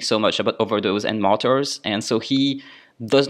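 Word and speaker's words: martyre: Comment dire martyr en français?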